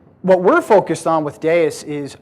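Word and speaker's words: Deis: get deus um and it is pronounced deus um i get this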